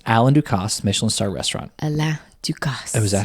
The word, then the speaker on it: Alain Ducasse: Alain Ducasse. Oh, is that how you say his name? Well, yeah. So, Alain Ducasse. In the French way, but I think in America we say Alain, right?